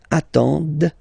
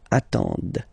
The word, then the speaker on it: attendent: And the last one, same thing, classic ending for il, elle at the plural form, ent, but then you don't pronounce them. Ils attendent, okay, so remember you get to pronounce this, d at the end, okay.